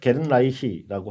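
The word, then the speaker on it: Gernreich: 어 해리헤이라는 분과 루디 게르 게른라이히라고 하는 분인데요. 게른라이를 영어식으로 읽으면 루디 거니치에 가까운 발음이라고 합니다.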